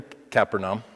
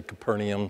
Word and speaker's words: Capernaum: It says, and they went into Capernaum. And yeah, okay, so how do you pronounce that word? Some people say Capernaum, some people say Capernaum.